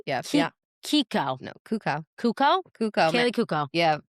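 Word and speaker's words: Cuoco: What's her real name is Kaylee Kukla. Why can't we pronounce her last name? It's Kaylee Kukla. It's not it. No. It's Kaylee Kuka. Kaylee Kuka. Yeah. Is that right? Yeah. Kiko. No, Kuko.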